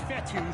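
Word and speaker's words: Fetu: third down so coach vettel spelled f-e-t-u for the longest time i was pronouncing it coach feda like feta cheese so let's just say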